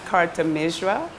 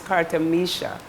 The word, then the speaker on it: Kartamisha: to spell it so it's not Carter misra it's Carter Misha okay so I so